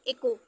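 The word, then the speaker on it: echo: ठीक है, इको, इको, ई से ई हो गया, सी का एच तो साइलेंट है, सी का साउंड क्या हो रहा है, का हो रहा है, और फिर ओ से ओ की मात्रा इको हो गया।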